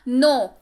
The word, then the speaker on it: know: KNOW पढ़ते हैं इसको नो। क्या पढ़ते हैं इसको? नो। कनो मत पढ़िएगा इसको, क्योंकि के जो है यहाँ पर साइलेंट है, ठीक है।